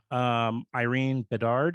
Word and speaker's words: Irene Bedard: Irene Bedard, is that how you say her name?